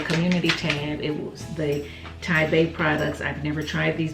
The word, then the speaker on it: TiBa: in it is a business card and you pronounce it taipei it's t-i-b-a naturals and it's pronounced taipei and basically i got another card it says we at thai bay naturals greatly appreciate your purchase it is our